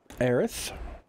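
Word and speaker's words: Aerith: account wide wind up bennu account wide Tifa aerys which is how you're supposed to pronounce her name SDS Federal which is cloud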